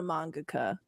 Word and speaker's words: mangaka: Since we would you ever do commissions as an artist, not just as a mangaka or mangaka? Or I forgot how You to said it pronounce right the first time.